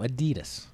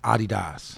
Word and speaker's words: Adidas: Yeah, but I'm Adidas all day when it's summertime. I won't wear nothing else. Vinny? The correct pronunciation is Adidas.